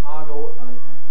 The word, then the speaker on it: ogle: to ogle at somebody well the youngest people incredibly voted in favor of ogle the only dictionary i could find at all that mentions this possibility is i forget if it's the american heritage or where the webster's collegiate tenth possibly went to says collegiate which gives argol alongside ogle so the only dictionary